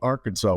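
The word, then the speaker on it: Arkansaw: farm in Western Wisconsin a little town called Arkansas Wisconsin spelled with a W on the end most people haven't heard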